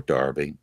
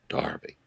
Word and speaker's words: Derby: Well, they stormed into Derby or Darby. We pronounce it the American way. We don't say Milano or Paris or Cologne. We just pronounce it the good old American way. Mm-hmm. But to make our English viewers happy, I'll say Derby.